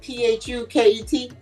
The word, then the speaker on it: Phuket: Wait, Phuket is the P H U K E T. That one pronounced Phuket.